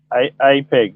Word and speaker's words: APEG: Is that AP? Do I actually say AP? AP-double-E? APEG, yeah.